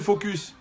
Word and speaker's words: focus: C'est ça qui s'appelle focus. Mais il faut bien prononcer le S.